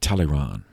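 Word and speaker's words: Talleyrand: a guy we've already met charles maurice de teleron uh uh tally that's t a l l e y r a n d live from 1754 to 1838.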